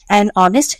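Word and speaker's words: honest: অনেস্ট। ঠিক একইভাবে এইচ এর উচ্চারণ উজ্য।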